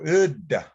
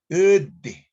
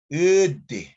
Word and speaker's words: udda: So this is a hard D sound. That's why it's spelled with a double D. We don't say uda or udi. We say ud. The hard D sound carries much emphasis.